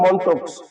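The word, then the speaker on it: Mantoux: মনক্স test বানানটা হবে উচ্চারণ হবে মন্টক্স কিন্তু বানানটা হবে মেন্টক্স এর আরেকটা নাম আছে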